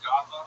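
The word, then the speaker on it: Godlove: Speaking of last name, my last name is God love. It's spelled just like God and love.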